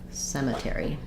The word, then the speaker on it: cemetery: e sound so SEMA Cemetery try um yeah that's a good word um Cemetery um thank you for that request um sorry I misspelled it e r says the air sound Cemetery um I was